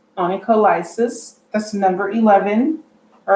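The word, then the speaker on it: onycholysis: than the hands that are seen so it's pronounced annika lysis that's number 11 all right and that's our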